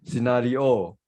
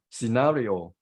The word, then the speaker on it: scenario: myself I will pronounce scenario we tend to suggest the final syllable which is not correct so the stress is on second syllable so it should be